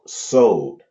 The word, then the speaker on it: Sod: The last level is the level called Sod, and it is spelled Sode. It's actually Code, but the C is that soft C with the long O, Sod.